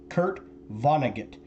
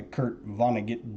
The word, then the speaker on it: Kurt Vonnegut: Okay, Kurt Vonnegut. I think I'm pronouncing that right.